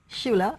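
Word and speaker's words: Schulich: Health at the, and I need help to pronounce this one, the School of Medicine. Shula.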